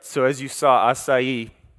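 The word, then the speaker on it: açaí: And for the brave ones, not you, Douglas, who knows how to pronounce it? Anyone? Close. Acai. Acai.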